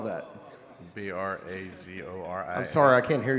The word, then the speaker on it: Brazoria: How do you spell that? B R A Z O R I A. I'm sorry, I can't hear you, sir. B R A Z O R I A.